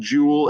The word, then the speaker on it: joule: So we call this a joule, Joule, pronounced joule, and the abbreviation for it is a capital J.